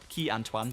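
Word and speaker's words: Quai Antoine: Eight laps of Casino Square and then eight laps again of Quay Antoine. Key Antoine, but Key is spelled like with an I, very strange.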